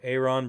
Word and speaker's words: Aaron: Yes, I said Aaron. He doesn't pronounce his name Aaron. So Aaron Brewer.